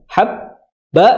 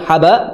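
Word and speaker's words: حَبًّا: Tapi bihi 2 harokat, habba ditahan banyak, habba, jangan haba, tapi habba.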